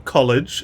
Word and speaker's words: college: But across from these old terraces, we've got the bookshop and the college, or college if you want to say it properly.